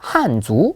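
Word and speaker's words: 汉族: 있는 민족이 바로이 한 한 족입니다 그래서 중국어 발음으로 한주 라고 얘기를 하는데요이 한족이 쓰는 언어다 해서 한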